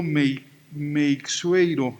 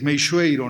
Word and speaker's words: Meixueiro: clase diego jaime aranda en oaxaca pronunciamos el apellido may make sueiro y hay muchos con la equis meixueiro no o meixoeiro me dijo iron dice ya